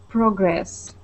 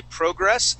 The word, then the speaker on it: progress: right uh yeah and you can pronounce this word two different ways I've heard people say progress as well as PR progress personally I I say progress but it is absolutely okay to say progress okay uhuh progress all